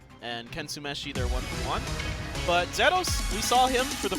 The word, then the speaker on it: Zeros: We gotta say it like the Japanese do. Okay, Zero. I can get behind that. Zeros. It's Over not here. Zero. It's Zero.